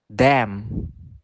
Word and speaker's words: damn: Next, the letter N can be silent next to the letter M. For example, damn, him, autumn.